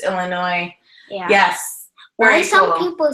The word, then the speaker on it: Illinois: there alpha wolf it's Illinois yeah yeah why some people say Illinois instead of Illinois because they don't realize that the S is silent it's okay let me